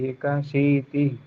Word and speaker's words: एकाशीति: ही को खींचना नहीं चाहिए। तिहि। तिहि। बस बस। तिहि। एकाशीति।